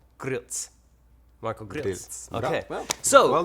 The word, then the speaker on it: Grilc: sods Gorilla mry but the real pronunciation of your last name is wait G one more G Marco Gil gz oh grz I forgot the tea there's a te it's it's spelled g r i l c yeah but it it's it's pronounced g r r r e e e LTC yeah Gritz Marco grz Okay so